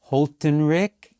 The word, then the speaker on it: Holthinrichs: It's Holthinrichs. It's Dutch. Yeah. It's Dutch.